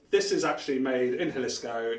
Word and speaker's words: Jalisco: And at its centre is Jalisco, spelled with a J. So Jalisco is basically the heart of the tequila production.